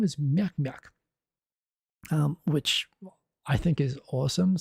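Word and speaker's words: ミャク: But if you teach people how to pronounce it, Myak, it sounds like the aliens in Mars Attacks. Myak, this guy says more ack, but Myak.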